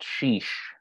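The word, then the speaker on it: xix: if I'm wrong angel I think it's six it's x i x um pronounced sheesh it's uh word yeah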